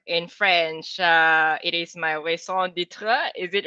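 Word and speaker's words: raison d'être: my ikigai or in french it is my song ditra is it right that i pronounce it right um yes so uh i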